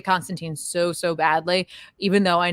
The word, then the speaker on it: Constantine: is it with pronouncing Constantine the correct way? I always pronounced it as teen, which was fun as an American way in early Hellblazer issues. Tyne is still weird for me.